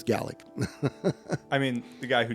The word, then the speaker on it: Gaelic: Gallic. Preacher. Get it right. Yeah. Gaelic. Yeah. Yep. Well, we in America say Gaelic, but Yeah. Gaelic. Yeah. That's because we're saying it wrong. Okay, that's fair. It's Gallic.